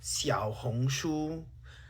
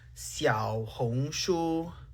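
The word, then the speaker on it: 小红书: I'm Chinese, and for the last time, it's pronounced Xiaohongshu. Xiaohongshu. Xiaohongshu.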